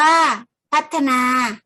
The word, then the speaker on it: พัฒนา: วิธี การ ทาง เทคโนโลยี พัฒนา อ่าน ว่า พัฒนา หมาย ถึง ทำ ให้